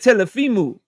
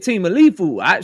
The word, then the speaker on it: Teofimo: I think it was I tried to say it like Turkey said it, but I think he said Teofimo. I said Temalifu.